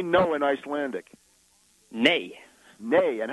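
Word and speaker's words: nei: say no in Icelandic nay nay and how do you spell it NE okay nay well that's understandable over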